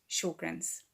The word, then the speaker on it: Sjogren's: the beginning which is confusing but it is pronounced Sjogren's I'm going to tell you my story I've